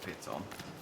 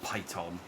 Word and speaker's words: piton: This is pronounced piton, not like python.